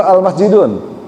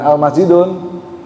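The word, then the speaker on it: الْمَسْجِدُ: Al-masjidu atau al-masjidun? Al-masjidu. Ya, betul. Al-masjidu. Kenapa dibaca al-masjidu? Bukan al-masjidun? Ma'rifat. Ma'rifat. Kok kita tahu itu ma'rifat? Ada alnya.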